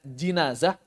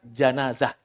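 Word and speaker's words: جنازة: Boleh dibaca jinazah, boleh dibaca janazah. Dua cara baca dalam bahasa Arab. Al-jinazah dan al-janazah. Idza suliyat bin nahar.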